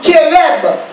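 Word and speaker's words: חרב: Maintenant, là, c'est temps qui c'est Bible originale là, ils ont prononcé épée comme Kéreb, qui écrit C-H-E-R-E-B en hébreu.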